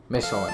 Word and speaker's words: Michelin: Michelin. There you go. Right way. I learned how to pronounce today.